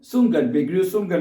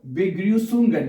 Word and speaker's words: Begrüßungen: It is not actual B, so it is written like a B, and so but it's pronounced like double S. Double S. Okay. So Begrüßungen, yeah, Begrüßungen, yeah, greetings.